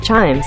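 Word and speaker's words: CHIJMES: uses the night light hot spot chimes pronounced chimes instead while most people visit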